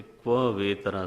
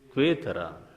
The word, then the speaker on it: क्वेतरा: कर रहे हैं, क्योंकि मैंने कभी क्व वेतरा नहीं पढ़ा। मैं हमेशा पढ़ता हूँ सत्वभासिका चित क्वेतरा।